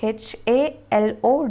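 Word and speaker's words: HaLow: hello as we say hello it is hello h a l o w and it is pronounced as halo h e y l o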